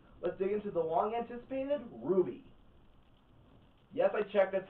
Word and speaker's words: RWBY: So, let's dig into the long-anticipated RWBY. Yes, I checked, that's how it's pronounced.